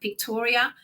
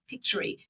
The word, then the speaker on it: Pictory: Obviously, I use things like Pictoria. Pictory is how What you is pronounce Victoria?